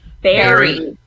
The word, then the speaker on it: buried: and after being buried alive twice he buried buried weird how do you say it spelled buried but it's pronounced bury yeah which is another element of English language